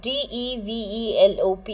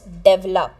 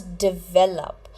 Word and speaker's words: develop: up early that means develop now this word d e v e l o p you don't pronounce it as develop you pronounce it as develop develop so listen to this very carefully it